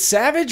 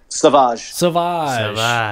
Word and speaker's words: Sauvage: Is it Savage or Sauvage? Sauvage.